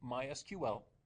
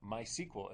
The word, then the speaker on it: MySQL: Now we're using mysql, or mysql as it's properly pronounced, which is very popular.